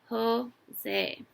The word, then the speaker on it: Jose: woo nods do you play on a team Jose so that's how you say his name ho say mrs.